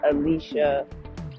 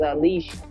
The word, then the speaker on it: Alicia: is Alicia SD and Alicia is spelled with two eyes is sh no C there's no c c in my name my name is not Alicia or Elisa or something like that it's a leash Alicia so there's glass